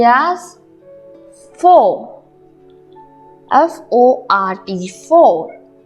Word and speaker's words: fort: Strong in French we say as fort, F-O-R-T, fort. Same is here. Now T is silent.